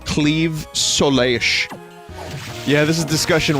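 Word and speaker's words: Claimh Solais: and it was like you have to pronounce it like a Welsh person says the name of their town and I I just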